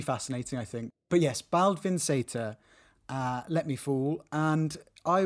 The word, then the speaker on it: Baldvin Z: And in Icelandic, Z is pronounced as Seta. So it's Baldvin Seta.